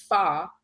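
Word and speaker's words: 发: In the Chinese language, hair has the same pronunciation and character as fa, F-A, in F-A-C-I, which means to become wealthy.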